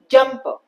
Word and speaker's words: jumper: इट्स अ 2 syllable word, jumper. So जब भी ऐसे कोई words होते हैं, one syllable of it will have more stress than the other. जैसे कि जब हम बोलते हैं word jumper, jumper, correct? तो jump वाले पार्ट पे ज्यादा स्ट्रेस है, पर वाले पे कम स्ट्रेस है. So it's jumper.